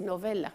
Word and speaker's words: Novella: Le vamos a dar la bienvenida a nuestro invitado especial, Novella, como él me ha dicho que lo pronuncie, Novella, porque de origen italiano también.